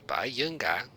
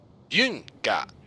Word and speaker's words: Byunga: It's not Bayanga or Bayunga. Byunga.